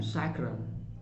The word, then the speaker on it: sacrum: Fourth reason लिखिएगा सैक्रम, SACRUM, सैक्रम।